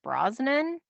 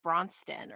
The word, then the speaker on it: Brosnan: of during that scene now tony mispronounces because i'm assuming he's actually referring to pierce brosnan that was my assumption as well but he said like bronsten or something like that yes he did but